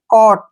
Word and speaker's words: caught: क्या पढ़ेंगे, कॉट। ध्यान रखना है कि यहाँ पे GH साइलेंट रहेगा।